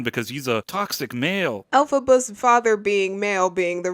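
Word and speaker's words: Elphaba: We then flash back in time to a couple giving birth to Al Faba. He pronounces Alphaba's name like this throughout the whole video.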